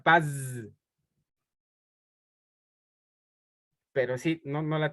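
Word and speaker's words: פז: sí es de de altísima calidad es se pronuncia Paz pero sí no no la tenía sí la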